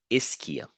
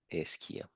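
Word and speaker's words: ischia: this is called the isia that's how you pronounce it isia and the part that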